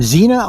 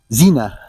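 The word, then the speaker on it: Xenia: It's Recumbent Cycle Con in Zena, Ohio. It's weird because it starts with an X. X N I A, but it's pronounced with a Z. Zena.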